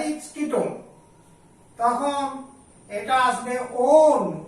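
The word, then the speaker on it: -one: তখন এটা আসবে ওন, ও দন্তন্য, that is ONE, ওয়ান উচ্চারণ হবে না, ইংরেজিতে যেমন ওয়ান বলে ONE, কিন্তু আমাদের এখানে উচ্চারণ হবে ওন, অর্থাৎ অপ্রধান প্রত্যয় হিসেবে পাঠ করতে হবে ওন।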